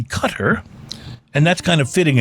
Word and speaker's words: Qatar: a passenger traveling on Qatar Airlines last week. And by the way, a more correct pronunciation would probably be Qatar.